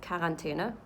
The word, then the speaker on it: Quarantäne: So the word quarantine in German is Quarantäne. It's spelled almost exactly the same.